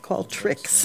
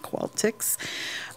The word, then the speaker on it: Qualtrics: It's Qualtrex, I believe. Qualtrics, not Qualtix.